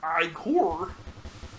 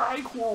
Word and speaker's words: ichor: That's pronounced I-core. Choose your I-core wisely.